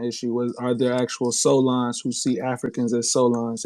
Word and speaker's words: Soulaan: Solon means it's spelled Soulaan.